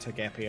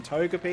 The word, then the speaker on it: Togepi: ourselves a togy or as Josh was pronouncing it until recently I took it the gappy and I'm like no Josh that's not how you pronounce it at all the first couple of times I'm like is Josh just saying this ironic but no they legitimately were pronouncing it to gapy I'm like oh boy